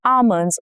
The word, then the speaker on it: almond: She sprinkled almonds on her dessert. Almond. Silent L shows up in many words like almond, calm, balm. Okay.